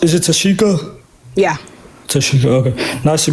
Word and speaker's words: Tashika: So, and then how do you pronounce? Is it Tashika?